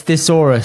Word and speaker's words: thesaurus: it comes to betting thesaurus thus I'm a therus kind of guy no no no off no no it's thesaurus say it properly or don't say it at all please this does not get